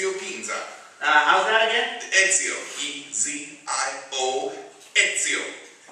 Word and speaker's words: Ezio: Is that the way you pronounce it? That is right. It's your Pinza. How's that again? Ezio.